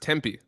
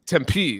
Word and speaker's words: Tempe: You know, it's pronounced Tempe. I mean, if you've been there for a while, I would imagine you would have been told that by somebody. The P is not this big. Tempe. It's Tempe. It's very simple.